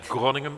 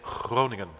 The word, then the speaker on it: Groningen: Like you don't say Groningen, but you say Groningen.